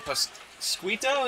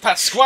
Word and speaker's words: Pasquale: up, and Moosey and having trouble pronouncing his name all night. Pasquito, is that it? Pasquale. Give him some love. I finally got it.